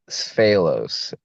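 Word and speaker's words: Sfalos: Sphalos. Sphalos? Yeah. S is in Sam, F is in Frank, Aelos. I've actually seen your name and never knew how to pronounce it.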